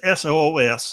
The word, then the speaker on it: Seuss: Now, his name's SOOS, and there's another pronunciation of that. We'll go with it, but that's what I'm going with.